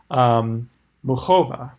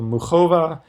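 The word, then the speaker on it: Muchová: tell me that it's kind of like the CH in like the composer Bach. So Muchova, she had that amazing match versus Pliskova yesterday that went to 13-11.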